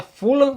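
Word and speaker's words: Fulham: nessa semana aqui né se pronuncia fulan na Inglaterra é o Fred Caldeira aqui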